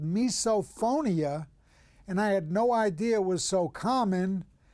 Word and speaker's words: misophonia: I have misophonia a lot of people call it misophonia so there is a lot of different pronunciations but I go with misophonia.